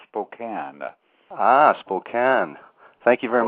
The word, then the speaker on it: Spokane: to be here and for your future information the town is called Spokane Hospital can thank you very much for correcting you it looks like it's Spokane but it's actually pronounced